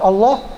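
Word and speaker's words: الله: Alif atau dua harokat lafadz Allah dibacanya ringan tarqiq karena huruf sebelumnya berharakat kasrah beda dengan yang tadi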